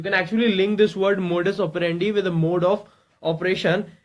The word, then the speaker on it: modus operandi: look at its pronunciation, then it is pronounced as it's modus and operandi. Okay, it's modus operandi.